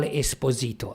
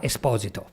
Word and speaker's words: Esposito: last name in Italy you call Esposito I know you misspell it okay you you mispronounce it sorry it's called exposit in Italian expose for adoption or